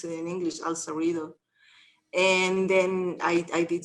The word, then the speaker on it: El Cerrito: i had no idea that that's how you pronounce it in english al cerrito and then i i did something just like